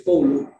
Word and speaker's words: coulomb: La carga se mide en coulomb, que tú lo conoces con C mayúscula, que se escribe coulomb, pero es coulomb, amperio, es A mayúscula y segundo es S minúscula.